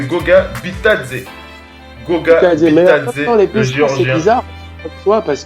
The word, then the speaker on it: Goga Bitadze: Les Pacers qui ont choisi, tu l'as dit, comment on prononce ça? C'est Goga Bitadze.